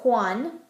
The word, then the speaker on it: Juan: Jotas make the same sound as an H in English, like hi. So we have Juan or Jose. Same as if it were spelled with an H.